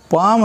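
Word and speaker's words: palm: उसके बाद देखिए यहाँ एल साइलेंट है बोले गए, ये मूक वर्ण है, पाम है, एल का उच्चारण नहीं है।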